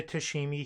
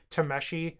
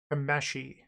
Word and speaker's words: Tameshi: We don't need the Tashimi here. Or Tameshi, I'm sorry. I'm sure a bunch of people in the comment section are upset that I keep on butchering how you say that. Tameshi.